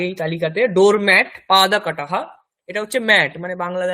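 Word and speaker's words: কটঃ: আগে আমরা পড়েছি এই শব্দগুলির আগে এই তালিকাতে ডোর ম্যাট পাদা কাটাহা।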